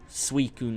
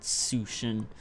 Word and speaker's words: Suicune: And Suicune, like, how am I supposed to know it's pronounced Suicune, not Sushin?